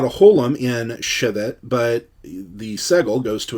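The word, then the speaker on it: שֶׁבֶת: And I should let you know that in these segel segel tav infinitives, the first syllable is always accented. So this is not shevet, this is shevet.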